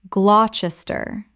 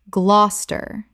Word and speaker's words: Gloucester: Common mispronunciation, Gloucester Correct pronunciation Gloucester Two syllables only. The middle syllables disappear completely.